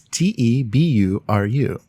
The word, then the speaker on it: Teburu: pronounced various ways and my favorite one so far is two Beru it's te bu are you and obviously they're going